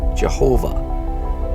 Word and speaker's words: Jehovah: Some say the correct pronunciation of that name is Jehovah. Others say the correct pronunciation of that name is Yahweh.